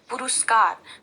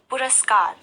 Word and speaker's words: पुरस्कार: हैं तो यहां पर जब गलत उच्चारण करेंगे अगर आप कहेंगे पुरस्कार तो यहां पर आप रोल में भी वह की मात्रा का प्रयोग करेंगे जो गलत है सही उच्चारण है पुरस्कार और पुरस्कार में राह